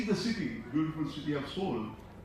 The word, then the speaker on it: Seoul: I was given hardly any time to see the city, beautiful city of Seoul. They say Seoul is the correct pronunciation, Seoul is the wrong pronunciation, Seoul.